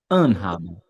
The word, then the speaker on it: anhaben: quando tá tudo junto, a sílaba tônica recai em cima do prefixo. Isso para os verbos separáveis de uma forma geral. Então aqui é anhaben, haben, heimgehen, heimgehen, zurechtkommen. Aqui é mais forte.